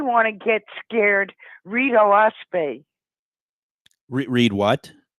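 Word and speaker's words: Oahspe: the of the fais it's spelled o a h s p and it's actually three syllables which stands for Earth sky and spirit o is Sky ah is Earth that's an alanin word sure and and spay is Spirit uh so it's the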